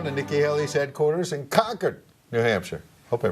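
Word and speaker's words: Concord: out live now to Nikki hel's headquarters in Cocker New Hampshire hope I pronounced that right nail it yes nail it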